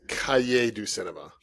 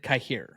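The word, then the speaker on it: Cahiers du Cinéma: uh magazine Tom I'll correct you on it's Cay do Cinema because I'm sure coyote Cinema is gonna come up numerous times in this list well I mean it has before and I've always heard it kahir but okay I don't pronounce French just like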